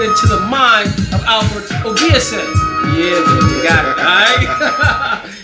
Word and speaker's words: Obiese: Alfred Obiese, accent on the ESA.